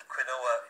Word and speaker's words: quinoa: So quinoa. But quinoa is the pronunciation.